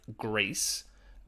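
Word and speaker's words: Gris: very much it's called it's pronounced grease but it's g-r-i-s really really cool game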